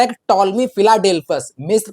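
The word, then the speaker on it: Ptolemy: और इसके एक चीज और याद रखिएगा, जो टॉलमी है, टॉलमी स्पेलिंग जो है पी से स्टार्ट होती है, पी साइलेंट रहता है, तो ये याद रखिएगा।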